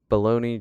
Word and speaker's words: Bologna: Baloney, just like pronouncing Bologna, baloney.